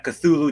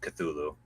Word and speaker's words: Cthulhu: So, yeah, and I mean, yeah, if you want to get really geeky about it, you can say his, you know, the name should be pronounced in a very exotic manner because it's an alien name that, you know, can't even be pronounced by a human tongue, but No. I as much as I love Lovecraft, uh yeah, I I just go with Cthulhu.